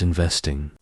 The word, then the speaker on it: investing: This word is pronounced as investing, with the stress on the second syllable vest.